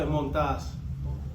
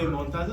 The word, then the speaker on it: Montas: I mean, I'm so used to people saying Montas. How would you prefer it to be said? How do you say it? If you were saying it, what would it be? Well, I'll say Montas. Okay. Okay. But you guys can say Montas.